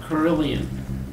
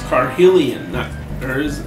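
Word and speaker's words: Carhillion: Check out Carillion. I suppose I should pronounce his name right. It's Carhelion. There's no R in there.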